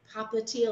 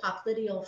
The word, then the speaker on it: popliteal: the knee right here at the popliteal or popliteal fossa where the popliteal or popliteal however you want to pronounce it i've heard both the lymph node is right